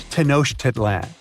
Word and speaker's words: Tenochtitlan: It's Tenochtitlan. And Mayan cities are hard to pronounce, too.